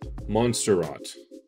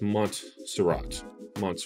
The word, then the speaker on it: Montserrat: I always used to say Monsterot, but it's Montserrat.